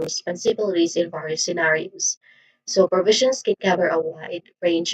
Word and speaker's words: provision: there's three distinct sounds starts with pro. Now the o in the first syllable is you know awasan it's a typicallyan as unstressed vowel sound. Now the primary stress is on the second syllable v which has a short e sound. Uh the combination in the init in the final syllable is pronounced as z. It's the voiced equivalent of sh sound.